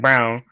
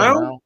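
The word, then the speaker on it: Braun: It's Brown. It's pronounced Brown.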